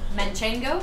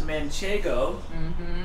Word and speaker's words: Manchego: cheese yes okay manchester mint well often often mispronounced the cheese is manchego m-a-c-h-e-g right oh you